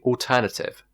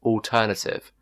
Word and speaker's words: alternative: Another word could be alternative. In the British accent, it's alternative, but Indian people pronounce it as alternative.